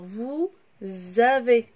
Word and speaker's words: vous avez: Alors, vous avez. A-V-E-Z. La même chose ici. Le S est entre deux voyelles. On le prononce Z.